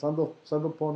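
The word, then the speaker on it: Sandalphon: Sorry, Samach Nun Daled Lamed Pei Vav Nun, pronounced Sandalpon. I think that's what it's pronounced.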